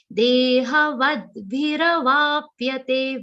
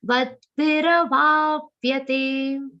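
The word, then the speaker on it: देहवद्भिरवाप्यते: Very importantly, dehava will have a aghat of the. Va is followed by half the and a complete va sound with a short e sound. Vadbhira, ra has to be complete.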